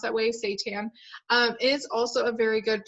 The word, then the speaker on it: seitan: diet is really great seitan is actually it's pronounced that way seitan is also a very good plant-based meat substitute